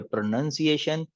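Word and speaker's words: pronunciation: Improve, improve your hand writing, improve your प्रोनाउंसिएशन।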